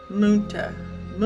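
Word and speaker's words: Münter: Ma Ma is how you pronounce her last name.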